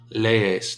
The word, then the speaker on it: lees: You singular would be tú lees. Notice you pronounce both vowels. They are not one sound. They're two syllables.